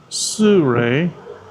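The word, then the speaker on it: Shure: Anyway, yeah, I ordered the Sure, and that's how you pronounce it correctly, Saturn, and it's a 35 millimeter.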